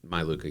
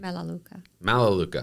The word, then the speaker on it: Melaleuca: I know that at this point we're not in Mailuka yet. Am I saying that correctly? Melaleuca.